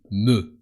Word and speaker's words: me: In French, it's me, with an e, and the e sounds e. You can imagine that you are a French cow in order to remember me.